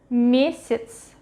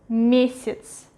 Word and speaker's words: месяц: What happens if ye or ya in the middle of a word? It is pronounced as и. For example, месяц, месяц, месяц. Ye is stressed, ya is in the middle. We read it as we pronounce it as и.